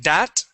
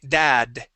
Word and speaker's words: dad: at the end okay instead of saying dat with a t sound we want to say dad with a d dad think of a Spanish